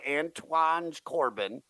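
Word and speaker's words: Anton Corbijn: The dude killed himself, and they made a movie by Antoine Corbin.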